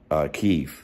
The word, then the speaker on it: Kyiv: So, if you don't know, which I believe you guys do know, the Klitschko brothers immediately defending Kyiv, which is the Ukrainian pronunciation of the capital of Ukraine, which Vitali Klitschko is the mayor of, picking up arms, defending the Ukrainian capital.